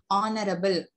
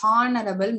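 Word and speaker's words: honourable: ஓகேயா, ஆனரபிள், ஆனரபிள் minister அப்படின்னு சொல்லுவோம், ஹானரபிள் மினிஸ்டர்னு நம்ம சொல்லக்கூடாது. ஓகே, அதே மாதிரிதான் ஹாருமே, ஆர்,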